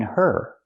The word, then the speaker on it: her: Now we need the Vv sound in of because we don't pronounce the H in her. We link the sounds. Get out of. Now it's a vowel. Out of not out of her. The H is silent because there's no consonant.